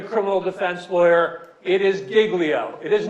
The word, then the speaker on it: Giglio: all of this is the pronunciation it is Giglio all right I have been a federal prosecutor I have been a local prosecutor I have been a criminal defense lawyer it is Giglio it is not jiggly